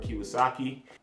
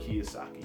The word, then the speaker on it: Kiyosaki: Fourth book, Rich Dad, Poor Dad, Robert Kiyosaki. Ooh, I said it wrong. Robert Kiyosaki.